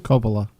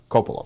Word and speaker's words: Coppola: And it was directed by Francis Ford, was it Coppola? How do you pronounce his name? Coppola. Coppola, thank you.